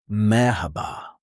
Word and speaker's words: merhaba: You pronounce each vowel clearly. For example, merhaba. mer ha ba Each part is clear.